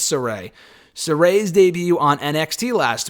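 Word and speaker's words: Sarray: zayus say her name soray not sarai as i was saying a week ago i think it's soray sarai's debut on nxt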